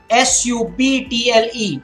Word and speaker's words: subtle: word death de BP dead another word subtle su b TL e subtle so remember this okay here it is